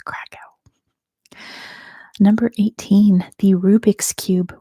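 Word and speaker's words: Kraków: it first it is craa I know that's not at all how it's pronounced in Poland but that's how it's pronounced in English and I speak English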